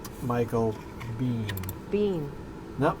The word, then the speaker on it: Biehn: Bean. No, it's pronounced Bean. According to the internet, it's pronounced Bean, just like you hear it.